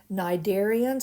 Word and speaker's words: cnidarians: these are the cnidarians cnidarians it begins with a c the c is silent and these include things